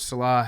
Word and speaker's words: Saleh: Wide media because Robert Saleh has. God damn, it's one of those things where like Billy has mispronounced his name so many times. Us. Robert Saleh.